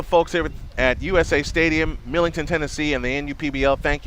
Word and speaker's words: Millington: I keep saying it wrong. I've said it wrong all weekend. Millington, Tennessee.